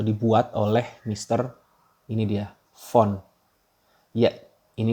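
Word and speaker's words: von: ditemukan ya atau dibuat oleh Mr ini dia font ya ini dibacanya font awalnya gue juga bacanya lainnya kayak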